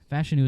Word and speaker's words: Fashanu: he's got close enough fashanu is how he says he pronounces his name but he said he